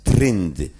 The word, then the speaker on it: trend: To samo piszemy trend, ale prawidłowo, przynajmniej obecnie, należy wymawiać trynd.